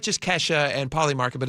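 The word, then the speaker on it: Kalshi: I don't want to say kesha every time. I just It's kesha. Yeah, it's pronounced kesha.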